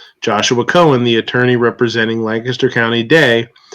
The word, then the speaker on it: Lancaster: stores okay right well if you're gonna say it say it right it's Lancaster I don't yes sir yeah